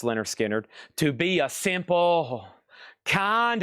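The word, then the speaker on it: Lynyrd Skynyrd: Humble Pie Rock on VG plus 14.99 and Leonard Skinner. Pronounced Leonard Skinnard to be a simple kind of man.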